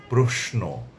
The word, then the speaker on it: প্রশ্ন: আছে ঐতিহ্য স্বাস্থ্য ত্রস্ত প্রশ্ন প্রশ্নের আরেকটি উচ্চারণ হচ্ছে প্রশ্ন দুই ধরনের উচ্চারণই এটির সিদ্ধ উচ্চারণ বা শুদ্ধ উচ্চারণ।